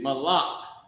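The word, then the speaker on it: מלך: And the word is malak. The word is malak. Ma, la, and the character ka connected. Malak.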